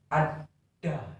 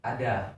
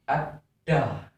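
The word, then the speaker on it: adda: di dalam bahasa Madura harus menggunakan konsonan rangkap, yaitu nanti cara membacanya kita harus menekan pada kata ada. Nah, seperti itu cara membacanya, teman-teman. Bukan ada, bukan gitu, tapi ditekan ada, seperti itu.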